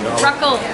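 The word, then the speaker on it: rakı: So it's like ruckle. Ruckle. Like the eye, because it doesn't have a dot. You have to say it like ruckle.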